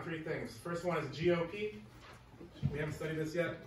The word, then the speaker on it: GOP: it's a term and it's not pronounced gomp you guys can just